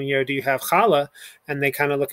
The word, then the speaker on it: challah: our key word okay we have our guttural that's first syllable and la so together challah is the braided bread